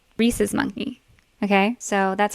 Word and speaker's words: rhesus: got it Jesus sounds sounds like it rhymes with Jesus okay the Reese's monkey